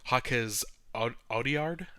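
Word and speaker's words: Jacques Audiard: I'm gonna butcher his name, but Jaquez Audiard, I believe is how you pronounce it.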